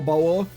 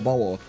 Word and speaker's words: Bauer: But in German it rhymes. Flower Power Bauer.